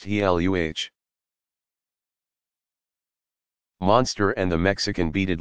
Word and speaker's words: Gila: Two lizards are known to inject venom into their prey, the Gila, pronounced Heluh, monster and the Mexican beaded lizard.